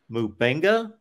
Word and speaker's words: Mubenga: for this 2023 class we got uh Paul mubenga did I pronounce that right yep another offense of linman